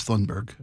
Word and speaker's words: Thunberg: You mentioned Tunberg a second ago. Uh, this was her in 2019. Is it Tunberg or Tunberg? How do you pronounce that? I thought it was Thunberg.